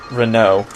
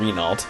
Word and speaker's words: Renault: This is the character, Renault. That's how you say it in French, but I guess you call him Renault, if you don't know how to speak French.